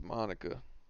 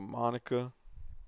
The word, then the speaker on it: Monica: you know what's weird for the longest time i pronounced that name monica and then that singer came out called herself monica and i switched my whole mindset to monica it's funny how she